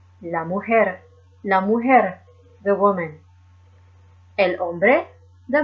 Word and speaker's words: mujer: H is silent however the letter J is pronounced like a letter H is am ohara la mujer the woman el hombre